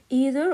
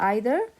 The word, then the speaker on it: either: أبغى بس ألفت انتباهكم لشغلة that either and neither they have two pronunciation لهم نطقين and both the pronunciation are correct. وكلا النطقين صحيح. So I can say either or either and I can say neither or neither. Both are considered to be correct pronunciation.